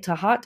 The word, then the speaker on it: Tejat: Within 2 degrees of it on Castor's foot is Tejat Posterior, Gemorium, the underneath rear. By the by, Tahat is a better pronunciation.